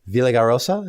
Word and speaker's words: Villaraigosa: race not only Cox and Allen but Antonio Villaraigosa is that pronounce that properly yes okay yes but when